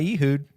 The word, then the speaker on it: Ehud: Not with Cutlery by Ehud.